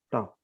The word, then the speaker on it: tough: Tough. Ini dibacanya jangan ragu-ragu, tough. Tough.